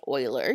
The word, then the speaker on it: Euler: number so it's pronounced Euler just think of your favorite hockey team and we use a